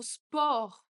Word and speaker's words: sport: Le D à la fin ne se prononce pas ou le mot sport, on a envie de prononcer le T. Mais non, on ne prononce pas le T.